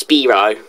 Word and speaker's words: Spyro: Spyro's name is pronounced Spiro. From me playing the Spyro 3 in those languages.